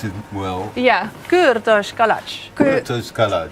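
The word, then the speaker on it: Kürtőskalács: Kurtos kalach. Kurtos kalach. If you try to pronounce it a little bit with singing, it's easier. I noticed. Kurtos kalach.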